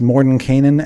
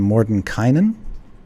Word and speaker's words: Mordenkainen: apprentices before we assume his name has been pronounced morning Kanan and Morton Kynan as far as I know both are correct all right would you